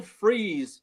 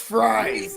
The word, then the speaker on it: Fries: Vikings this morning signed former Colts guard will freeze to a fiveyear $88 million deal it's pronounced fries fries fries for chicken fries free fres and